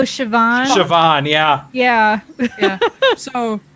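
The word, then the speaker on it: Siobhan: it doesn't it's like what's that other weird name that looks like cahan but it's actually like oh sioban sioban yeah yeah yeah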